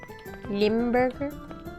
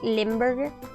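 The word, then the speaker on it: Limburger: sandwiches are what's lamburger lamburger did I pronounce that right limberg yeah part of the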